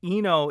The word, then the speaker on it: Eno: Okay, Eno is the correct way to pronounce it.